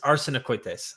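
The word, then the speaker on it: arsenokoitai: do you pronounce it the longer word is Arsenal coites honest arsenicoites okay and the short word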